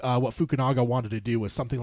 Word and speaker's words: Fukunaga: What it was is it wasn't Cary Fukunaga is how you say it.